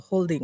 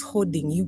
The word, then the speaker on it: hoarding: HOARDING, not holding.